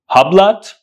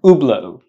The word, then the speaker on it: Hublot: company the name of this brand do you pronounce it HBL do you pronounce it uh huat how do you pronounce it it's not pronounced HBL it's not pronounced huat it's pronounced oblo oblo oblo so the correct pronunciation is oblo